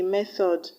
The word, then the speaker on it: method: If you listen to the way I even pronounce the words, you find out that the other options have the TH is pronounced as the and not th, as you have in thatch and method. That is to say that the TH in other options are voiced, whereas the TH in method and thatch are not voiced.